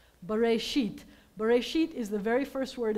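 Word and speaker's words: בראשית: The word is Bereshit. Bereshit. Bereshit is the very first word in the Torah.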